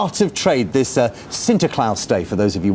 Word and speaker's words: Sinterklaas: It is Sinterklaas Day, as I'm told the pronunciation is, over in the Netherlands.